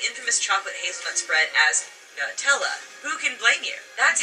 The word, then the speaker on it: Nutella: But there has clearly been some major controversy in how to pronounce Nutella. On Nutella's US frequently asked question page, it's pronounced Nutella. That has driven people nearly mad, not to mention the ironic arguments that have ensued. However, in other parts of the world, the spread is called Nutella.